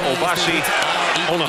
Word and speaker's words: Obasi Onuoha: Correct pronunciation, Obasi Onaha.